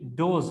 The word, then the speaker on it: doze: डोस है, और DOZE डोज है, ठीक है। ये थोड़ा सा प्रोनाउंसिएशन में फर्क है, DOSE डोस और DOZE डोज, ठीक है। इसमें थोड़ा Z पे स्ट्रेस ज्यादा है, डोज और डोस, ठीक है।